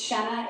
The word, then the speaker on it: Shenna: And I didn't say, "Nope, it's Shenna, it rhymes with Jenna."